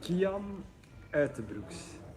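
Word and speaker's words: Kian Uijtdebroeks: Let's listen to the whole back and forth about how to pronounce his name. So it's Kian Utebrooks.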